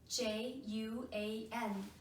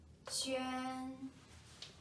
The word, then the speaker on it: Juān: So it's Juan, but it's not like so in Chinese. It's Ji, Ji, Yu, Yu, An, An. So together it's Juān, Juān, Juān.